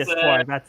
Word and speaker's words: Espoir: Yeah, That's the Espoir. That's how you say it.